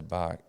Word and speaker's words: Bach: The composer, Bach. right? Yeah, it's Bach.